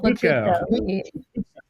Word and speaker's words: Pachuco: Michael Pachuco. Yeah. You say it differently. What's the correct way to say it? Yeah, I'm not saying it right. It is Pachuco.